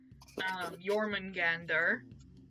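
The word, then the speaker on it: Jörmungandr: Jormungandr. Or Jormungand, depending on, pronunciation and whatnot.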